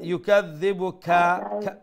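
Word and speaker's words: يُكَذِّبُكَ: হ্যাঁ, ইউকাযযিবুকা যে ফামা ইউকাযযিবুকা, কাফের উপরে জবর আছে না, এই জবর লম্বা হবে। তাহলে ফামা ইউকাযযিবুকা বলার সাথে সাথে কিন্তু আপনার নেক্সট ওয়ার্ডে উচ্চারণ করতে হবে, না হয় আবার ওই কাটা লম্বা হয়ে যাবে।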